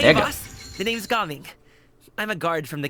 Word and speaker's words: Gaming: get our new 4-star, Gaming, which I know his name spells gaming in English, but in his actual pronunciation of his name is Gaming, or Jaming.